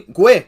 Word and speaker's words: Guhle: Pronounced perfectly. Guhle.